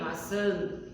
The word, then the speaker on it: maçã: Como se tivesse um N no final da palavrinha, maçã, né? Você coloca um tio em cima da letrinha A, tá?